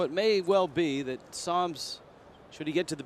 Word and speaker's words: Sams: Sams spells his last name S-A-M-S, and some in the States call him Sams. But in the Netherlands, it is Sams.